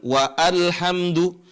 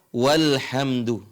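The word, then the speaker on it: وَالْحَمْدُ: Ya tapi kalau kita baca ada tambah wa di sini alifnya tidak dibaca bukan wa alhamdu tapi Dibaca walhamdu baik perhatikan ini contoh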